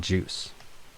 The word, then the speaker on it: JUCE: port them out to this other program called Juice, and that's spelled Juce.